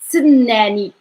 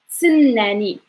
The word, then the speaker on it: تسناني: تسناني تسناني تسناني. So you have to say like t first. You're going to emphasize it, t, and then like you're